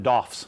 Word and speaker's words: DOF: You can abbreviate it DOF. People even pronounce this, they call them DOFs.